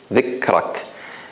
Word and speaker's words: ذكرك: So I would say dhikrak, dhikrak, ذكرك. If I don't know hams, then I would say ذكرك. ذكرك. Let's try it again. ذكرك. Basically, we won't be able to hear the kaf.